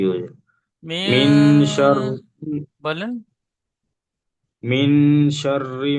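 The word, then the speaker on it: مِنْ: নুন সাকিনের পরে হরফে ইকফার 15টি অক্ষরের মধ্যে সিন এসেছে, তাই নুন সাকিনের আওয়াজকে নাকে তুলে একালিক পরিমাণ গুন্না করে পড়তে হবে, একে ইকফা বলে।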